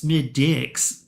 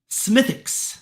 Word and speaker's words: Smithwick's: being like this sucks smid dicks you know I think okay okay that W was silent okay okay I got